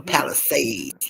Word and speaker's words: Palisades: Pacific Palisades. Palisades. There we go. Palisades.